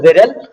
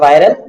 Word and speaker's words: Viral: smack okay yes i mean the name is pronounced viril okay i mean don't pronounce it viral if you if it was if it was